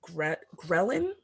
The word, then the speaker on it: ghrelin: lineage my favorite hormone is ghrelin that's how you say it that's a cool